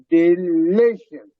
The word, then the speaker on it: delicious: In the delicious, the syllable that is stressed, the li, delicious, delicious.